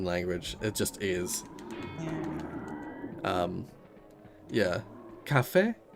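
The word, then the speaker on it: café: Yeah, cafe. You pronounce it cafe. You don't pronounce it caf.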